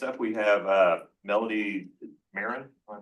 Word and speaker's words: Marin: Okay, next up we have uh Melody Marin. Am I pronouncing Marin?